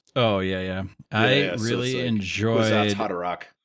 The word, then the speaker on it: Kwisatz Haderach: Kwisatz Haderach. Yep. Which is not how I pronounce it. I pronounce it with a lot harder H sound, much like I did with our guest last episode.